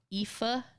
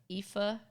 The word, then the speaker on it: Aoife: Which is pronounced like this. What other ones are there? Oh, Aoife. I think they're lovely. They're really pretty names, though. Aoife. It's like pronounced like Aoife.